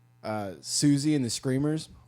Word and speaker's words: Siouxsie: never heard of like Susie and the Screamers like MUNGO JERRY and like Susie is spelled like sio you x SI e siouxsie and the Screamers i never liked sue like she is yeah Native Americans first